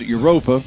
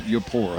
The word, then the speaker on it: Eupora: We are looking ahead next week as travel down the road to Yapora, or as Bob said a moment ago, as some people pronounce it Europa, but it is, for all intents and purposes, in Mississippi, it is Eupora.